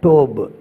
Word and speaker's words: Tov: அது வந்து என்னென்னா டிஓபிஇ, டோப், டோப் அப்படின்னு சொல்கிறவங்க இருக்காங்க. டோப், இந்த வி சவுண்ட் இருக்குது பார்த்தீங்கன்னா, டவுன்னு சொல்கிறது இல்லை, இதையும் டோப் அப்படின்னு தான் சொல்கிறது.